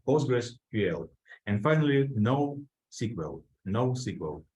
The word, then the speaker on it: NoSQL: postgres ql and finally no SQL no SQL not only SQL but usually it's pronounced nosql this is something that